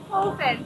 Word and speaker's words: Shanehofen: Pronouncing your name, are you saying Hoffen or Hofen? Hofen.